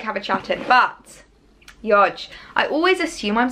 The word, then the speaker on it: Yodge: But Yodge, I always assume I'm saying that correctly. No one seems to have corrected me at this point, so I think that's how you pronounce it. It's Y-O-J, Yodge.